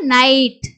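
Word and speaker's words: night: அப்போ இங்கே இடையில வந்து பார்த்தீங்கன்னா ஐ ஜி ஹச் மூணு எழுத்து இருக்கு, அந்த மூணு எழுத்தையும் நம்ம எப்படி உச்சரிக்கிறோம், ஐ அப்படின்னு உச்சரிக்கிறோம். அப்போ நம்ம என்ன பண்ணணும், ஐன்னு உச்சரிப்பு வரும்போது இந்த ஐ ஜி ஹச் வந்து எழுதணும். அப்போ நைட்.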